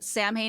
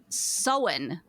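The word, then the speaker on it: Samhain: it would be pronounced Sam ha is s m ha a i n but it is pronounced SE yeah that makes sense just throw throw out most of the middle letters there I had to look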